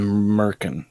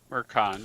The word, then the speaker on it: Mercon: Felwyn and Merkin. How do you pronounce that, Mike? Mercon, but Merc's fine.